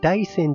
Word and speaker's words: 大山: ます今更ですがこの山は大山と書いて大山と読みます不思議ですよね 31 号では山のことを線と呼ぶことがあるらしく大山と呼ぶようです建物が見え